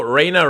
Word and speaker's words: Raina: Also, Raina rhymes with Elena, so...